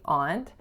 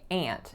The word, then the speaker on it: aunt: uncle over the weekend so most Americans that I know tend to say aunt however most Canadians that I know say aunt and that's how I grew